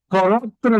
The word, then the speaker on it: pur: If it was French, pour would be spelled P-O-R, not P-U-R. Okay, so this is Latin. Pour vie. It's pronounced the same, but it's Latin.